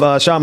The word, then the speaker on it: Kshama: I'm still riding off of Kshama Sawant, and that was good. I'm gonna learn how to pronounce people's names going forward before I bring them on the show. So I apologize. That K is silent.